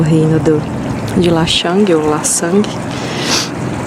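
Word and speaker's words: Lan Xang: fundado, mas ele era conhecido como La Sang, acho que é assim que fala, porque a moça me falou que o X pronuncia como S, não sei se em todas as palavras.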